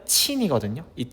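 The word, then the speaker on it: 秦: 이것은 저쪽 서역 뭐 따지자면 페리시아 지역까지도 널리 알려지게 됩니다.이 진이라고 하는 거는 중국어 발음으로는 친이거든요.이 친이라고 하는게 다른 나라에 전파가 되면서 오늘날 차이나라고 하는 중국 국가 이름의 유래가 되었습니다.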